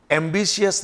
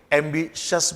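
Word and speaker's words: ambitious: जिन शब्दों के लास्ट में IOUS आता है, स्पेसिफिकली अगर ये IOUS T या C या X या G के बाद अगर ये IOUS हो तो इस I का प्रोनाउंसिएशन नहीं किया जाता। तो ये टेनेशियस नहीं है, ये टेनेशियस है। कॉन्शियस नहीं होता, कॉन्शियस होता है। एम्बिशियस नहीं बोलेंगे, एम्बिशस बोलेंगे। क्लियर? एंक्सियस नहीं होगा, एंक्शस होगा।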